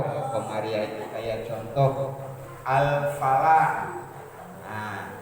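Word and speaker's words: الفلاح: Itu al qamariyah, kayak contoh al qamariyah itu kayak contoh al falah. Nah, itu alif lam ketemu sama fa sehingga L-nya kebaca jelas. Al falah, L-nya jelas.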